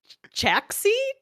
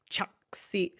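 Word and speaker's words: Chaxxi: Choxy. Choxy.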